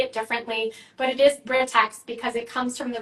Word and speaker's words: Britax: So Britax is the parent company. Britex, Brightax, Britax. People say it differently, but it is Britex because it comes from the root of British accessories.